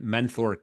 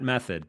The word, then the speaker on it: Menthor: Menthor, not men, not not method, but menthor.